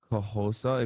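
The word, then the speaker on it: Xhosa: You can pronounce it as Kahosa if you can't do the clicks.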